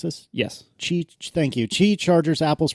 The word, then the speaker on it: Qi: Chi is that right is that how you pronounced this yes Chi thank you chi Chargers Apple's promoting and the